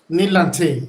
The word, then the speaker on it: Knii Lante: great great so um i hope i pronounced your name correctly nei lante right yes it's me lante nilante nilante yeah okay yes great great